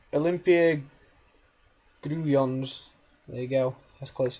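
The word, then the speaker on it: Olimpia Grudziądz: And I've just searched on Facebook for how Nick told me how to pronounce that name, and it is Olympia Gruyons.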